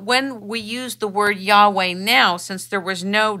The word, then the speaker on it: Yahweh: would actually tell you that the name is pronounced Yahweh he knows this because they know their language